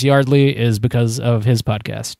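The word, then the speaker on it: Yeardley: The only reason I know it's pronounced Yardley is because of his podcast.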